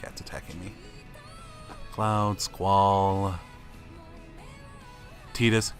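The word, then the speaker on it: Tidus: detecting me cloud squall Titas yes i pronounce adidas it's canon dissidia proved it and then there's lightning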